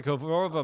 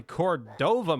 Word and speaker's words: Cordova: Marty Kova might score. Marty Cordova might score. That's how you pronounce his last name.